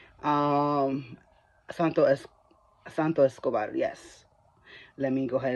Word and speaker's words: Santos Escobar: that match first of all nobody really likes Esco santar um Santo es Santo Escobar yes let me go ahead and pronounce it correctly um there were people that